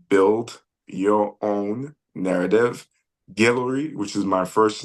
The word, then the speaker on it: Guelory: your own narrative on Instagram it's literally how it's spelled build your own narrative gillery which is my first name gu e l